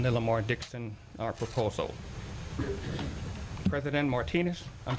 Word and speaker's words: Martinez: President Martinez, Martinez. I've lived in Las Vegas for 25 years. It's pronounced Martinez out there. Just as J-U-S-U-S is pronounced Jesus out there.